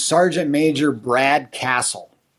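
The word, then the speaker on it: Kasal: And it's Sergeant Major Brad Castle. Some people pronounce it Casal.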